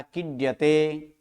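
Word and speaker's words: क्रीड्यते: क्रीडयते लिखा है, क्रीडयते आता है, ड पूरा आता है क्या आधा आता है? आधा, आधा, किड्यते।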